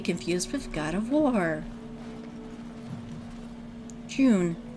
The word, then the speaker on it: June: June. Or Junet. if you're actually going to say the correct pronunciation.